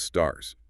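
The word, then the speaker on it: SSARS: Then there are statements on standards for accounting and review services or SRS often pronounced STARS.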